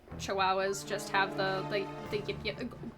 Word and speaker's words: Chihuahua: Actually, I like I feel like it could be just a Chihuahua joke that like Chihuahua just have the the the No, no, no, it's gua as pronounced wow.